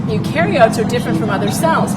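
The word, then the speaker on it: eukaryotes: Uh it's pronounced ukarotes. Ukarotes.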